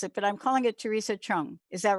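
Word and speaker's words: Theresa Chung: your name the way that my other friends pronounce it but I'm calling it Teresa Chung is that right yes correct first time um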